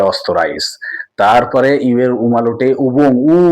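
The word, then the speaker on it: Österreich: অস্ট্রিয়াকে অস্তরাইস বলে, জার্মানির পাশের দেশ অস্ট্রিয়া, কিন্তু ওরা বলে অস্তরাইস।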